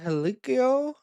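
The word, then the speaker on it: Hikuleo: We still got Helikio, how his name is pronounced, who has signed with WWE.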